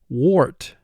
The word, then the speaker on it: wart: AR is preceded by the sound W, and when that happens, oftentimes AR will represent its second sound, which it does in this word.